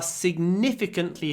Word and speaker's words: significant: the adverb temperatures are significantly higher this year so significant significantly ah pronunciation significant try to hold the N don't say significant hold the N significant sign significant okay next